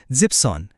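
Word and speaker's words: siebzehn: ঠিক একইভাবে 7 মানে জিবেন, কিন্তু 17 বলার সময় ওই শেষের ইএনটুকু বাদ পড়ে যায় আর শব্দটা হয় জিপসন।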